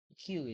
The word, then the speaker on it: queue: Jadi penjelasan tentang queues, queue, queue itu ya. Bacanya queue bukan QW.